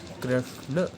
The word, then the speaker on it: कृष्ण: पास निकल के आएगा कृष्ण ष्ण ष्ण। तो इसको उच्चारण के लिए अपनी जीवा को मूर्धा से लगाएंगे श, फिर उसके बाद जो है ये उच्चारित होगा आपका कृष्ण कृष्ण।